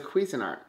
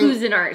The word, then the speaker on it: Cuisinart: say the word here oh it's a cuisinart oh that's not always how you say it so we were listening who's in art sometimes that's that because that's how my mom grew up saying it but i know the right way to say it now but when you know better you do better i didn't know but when i was growing up my mom called them cousin art i like it when